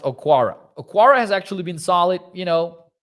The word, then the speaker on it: Okwara: They've got man, I forget how it's pronounced and how it's spelled. Okworu, I think. One sec. Let's see. Let's open the Lions lineup here on PFF. Okwara. I think it's pronounced Okwara.